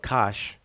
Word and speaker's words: Kush: sparse up here now kush is down here right here they call it kosh we say kush um the glyphs would